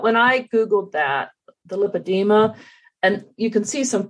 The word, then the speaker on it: lipedema: Like, for instance, 11% of the women have lipedema.